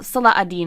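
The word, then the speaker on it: Salah ad-Din: interactions between saladin and well salah adding is really the more uh better way to say his name but i think it's been anglicized to seleden um between seledon and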